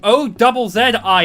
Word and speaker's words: Aussie: And I'm just No, it is not a U SI E. You pronounce it like ozie E. Like Osborne. It's Aussie. Not Aussie.